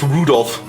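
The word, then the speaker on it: 留弗夫: I tell you that mess of characters is pronounced Rudolph.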